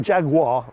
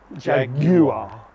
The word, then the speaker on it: Jaguar: That's not Jaguar, Jaguar. Okay. Yeah, that's how you say it in England anyway.